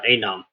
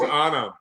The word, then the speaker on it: Anam: ahead and bring uh Adam uh is it how is that how you say it I I I think it's Anam Anam you guys great actress